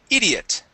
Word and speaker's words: idiot: this word here is idiot idiot idiot idiot idiot okay ID idiot instead of e idiot it's I idiot ID idiot like this